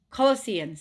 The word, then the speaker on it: Colossians: Is that how you pronounce it? Colli- Colossians, yeah.